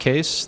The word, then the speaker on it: Kees: um I'm case uh it's pronounced case the spelling is Dutch and it's my grandfather's fault but um you